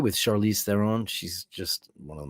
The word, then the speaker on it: Theron: He had on his couch one day Charlize Theron, that's how you say it, Theron, and John Hamm.